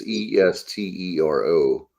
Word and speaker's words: Estero: It's Estero. Estero is what I was thinking, but I'm not 100%. Yeah, that sounds right. Estero.